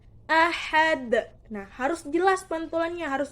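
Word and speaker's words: أحد: Nah, cara membacanya harus dengan pantulan. Pantulan yang berat atau besar. Qul huwallahu ahad. Ahad. Nah, harus jelas pantulannya, harus besar pantulannya. Tidak boleh qul huwallahu ahad.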